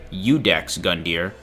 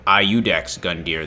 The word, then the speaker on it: Iudex Gundyr: Also, his name is officially pronounced Iudex Gundyr, which was news to me when I learned that. In my head, I'd been calling him Iudex Gundyr this whole time.